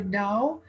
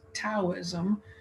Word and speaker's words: Dao: spelled it differently here it's pronounced with the d according to our friends in china but it's often spelled with the t you'll find it both